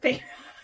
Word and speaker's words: Feyre: Feyre. Feyre.